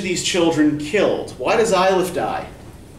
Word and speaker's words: Eilif: Eilif.